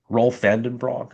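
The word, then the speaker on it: Roelof van den Broek: rightly frames it as like, and there's other Rolf Vandenbroek is how to pronounce his name.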